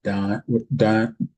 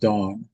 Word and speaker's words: Dan: Gileo, the son of uh Perzu of uh By Abidan, the son of Gideon um of Dan, which is actually pronounced Dawn of Dawn.